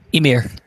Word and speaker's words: Emir: Emir. Okay, thank Yeah. you. Emir. It's like a mirror.